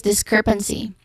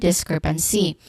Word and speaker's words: discrepancy: Pronunciation wise, we start with this, the first syllable, which has a short e sound and ends with a hissing sound, and then followed by the stressed syllable crep, which has a short S